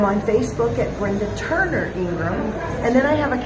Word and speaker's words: Ingraham: website is brenda hyphen ingram and you spell that i-n-g-r-a-h-a-m it looks like ingraham but it's like the graham cracker people don't remember the